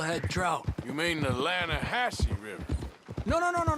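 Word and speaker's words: Lannahechee: You mean the Lanahashi River? No, no, no, no, no, no. The the Lanahhatche. It runs right near here. Yeah, but it's pronounced Lanahassee.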